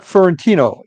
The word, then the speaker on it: Fiorentino: are back at paranormal Stakeout my guest fiorentino am I pronouncing that correctly yes that's good okay